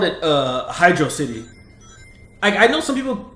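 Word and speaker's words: Hydrocity: wanted to call it Hydro City. You know what I'm saying? like I don't know cuz I think the uh one of the translations is pronounces basically like hydro city not hydroity but yeah I don't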